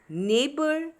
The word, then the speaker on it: neighbor: Next is neighbor, daughter, fight, straight. So what is silent here? Here the letter G, H are silent. We are just pronouncing N-E-I and B-O-U are neighbor. D-A-U and T-E-R.